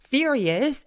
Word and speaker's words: furious: his mother is furious furious 강세 빡세게 주세요 furious and throws the beans